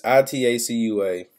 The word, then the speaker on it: Itacua: I pronounce this right, Etaqua, one of the 21 regions of the massive open world. So they got 21 regions on there. One of them is Etaqua, or Itaqua. It's Itacua.